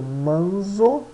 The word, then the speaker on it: manzo: Z é pronunciado como TS. Por exemplo, manzo, manzo, manzo.